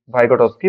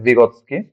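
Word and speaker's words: Vygotsky: সামাজিক গঠনবাদের প্রবক্তা রাশিয়ান মনোবিজ্ঞানী লেভ ভাইগটস্কি, বা রাশিয়ান উচ্চারণে লেভ ভিগোৎস্কি।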